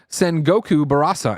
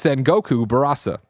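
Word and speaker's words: Sengoku Basara: Sal Romano from Gamatsu said, Greg, you said Sengoku Barasa and my ears bled. It's Sengoku Barasa. Well, Sal, if you spell it the exact same way, I can't change it for you. You keep swapping the R and the S.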